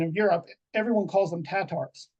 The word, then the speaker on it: Tatar: calls them tatars or tartars it's interchangeable Tatar tartar just just a slight pronunciation difference but how could they